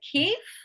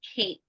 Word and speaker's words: keep: same thing yeah so you said Keith we need to keep the receipt but it's keep keep so sometimes you're replacing